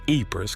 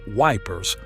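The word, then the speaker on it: Ypres: los soldados ingleses estacionados cerca de apers que pronunciaban erróneamente como vipers en Bélgica encontraron una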